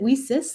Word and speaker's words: WiCyS: by our acronym wiesis we spell it w-i-c-y-s and pronounce it we sis like we cyber sisters because that's exactly what